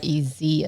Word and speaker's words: Jerez: Jerez as in zebra. Because the J is like an H in the Espanol world.